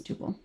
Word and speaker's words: tuple: So, according to the Cambridge dictionary, in the US it's supposed to be pronounced as two. So as well as the UK. So I'm wrong. So I would say tuple but yeah it's tupil.